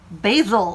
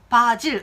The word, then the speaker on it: basil: 그럼 어떻게 발음해야 돼요? basil. Basil. 이래야지 이렇게 얘기하시는데요. basil. 미국 영어, 미국 발음 기준으로 이렇게 발음하시는 게 맞아요. 하지만 네, 바질, 우리말의 바질에 가깝게 발음한다고 해서 이게 꼭 무조건 틀린 건 아니라는 거.